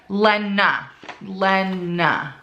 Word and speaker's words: Lena: They tell you how to pronounce it. Lena.